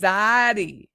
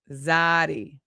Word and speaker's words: zayde: Oh, it's pronounced Zayde. Zayde.